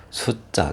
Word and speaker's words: 숫자: 숫자, 둘 다 한자어인데 이렇게, 숫자, 이렇게, 된 소리 나죠.